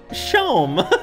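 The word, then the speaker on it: Seam: better spent about yourself the name seem pronounced shome and this is my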